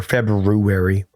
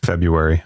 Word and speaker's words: February: you say February or February uh February I don't say the r me neither and when